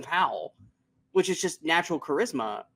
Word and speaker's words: Powell: fantastic in this film because he's Glenn pal when Glenn pal is Glenn Powell which is just natural